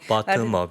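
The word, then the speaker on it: bottom-up: 자, 그러면 항상 이제 우리가 투자를 할 때 또 시장을 바라볼 때 균형이 필요한데 탑다운 바텀업 바텀업 이거 발음을 어떻게 해야 되는지 바텀업이요. 바텀업 예.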